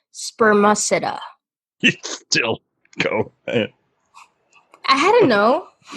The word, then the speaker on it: spermaceti: whale before before I close this window it's pronounced spermaceti it still I don't know there was a